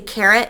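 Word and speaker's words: carat: for caribbean keratin and when they say carrot it's not spelled like the vegetable it's c-a-r-a-t so you might hear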